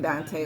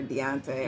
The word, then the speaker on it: Deontay: know if she feeling Dante like that, or Deontay. I'm just gonna call him Dante. I know I've been saying it wrong the whole time, but whatever. Been saying Dante this whole time, so I might as